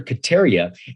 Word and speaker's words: Kataria: I butchered his name in the podcast, but it's Dr. Kataria.